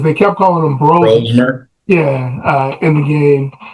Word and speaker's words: Brosmer: And I think it may be pronounced Brosner because they kept calling him Brosner. Brosmer, Yeah, in the game. Brosmer, 4 Right.